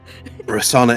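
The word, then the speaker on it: Rosohna: Um, Rasana is one of them. It's it's you think you think there's a H there, but it's it's I think the H is silent. Um, so Rasana, I believe, is the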